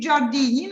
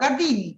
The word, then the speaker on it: Gardini: am I pronouncing right it should be jardini no Gardini Gardini Gardini so I'm okay and